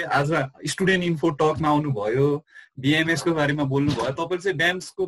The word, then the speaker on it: BAMS: डब्लुएचओ पनि भनिन्छ होइन त्यस्तै बिएएमएस ब्याम्स पनि भनिन्छ बिएएमएस बिएएमएस पनि भनिन्छ सो बिएएमएसलाई ब्याम्स भन्नुभन्दा पनि बिएएमएसलाई बिएएमएस नै भन्दा बेटर सुनिने राम्रो रिजल्ट